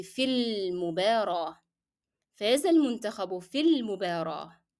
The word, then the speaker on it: في المباراة: So here you're going to drop, of course, the pronunciation and the sound of ألف and move directly from the long vowel ياء to the لام in المباراة. So it will be في المباراة.